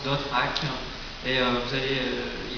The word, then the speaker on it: .hack: en fait son appellation quand on l'écrit c'est en point HAC donc on la prononce d'autes ha et vous allez il